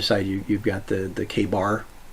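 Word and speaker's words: KA-BAR: on the other side you've got the the k bar name on it totally in new york that's how you pronounce it but yeah 40 years of hard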